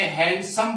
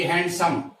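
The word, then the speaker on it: handsome: जैसे आपके सामने यहाँ कुछ मैंने वर्ड लिखे हैं, ये लिखा मैंने हैंडसम, लेकिन ध्यान दीजिएगा इसमें डी जो है वो साइलेंट रहता है, इसे हैंडसम बोला जाता है, न कि हैंडसम।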